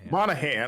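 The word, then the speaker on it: Monaghan: Cameron I've never known how to say his name. Monahan. I always want to say the G.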